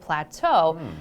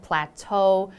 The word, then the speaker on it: plateau: we have this word plateau and it might look a little bit funny compared to how it's said plateau but this is a